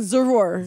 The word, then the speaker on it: Zarur: they so can find So it's Z. It's like Zara. Zara, but you know what I'm saying? Zarur. Zarur.